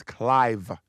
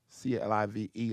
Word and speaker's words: Clive: my name is Clyde but my name is Clive c-l-i-v-e like Clive Davis who gave Whitney Houston